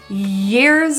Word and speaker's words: years: The word years starts with a little bit more of a higher tongue position. So the middle of your tongue will press really high towards the middle of your palate and create a bit of a friction.